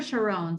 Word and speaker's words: Sharon: is it Sharon or Sharon sorry I neither it's Sharon like Yvonne Sean and John oh wonderful okay Sharon